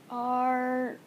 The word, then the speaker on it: Roblox: If you guys have never heard of Roblox, it's spelled R-O-B-L-O-X. Some people call it Roblox. It's Roblox.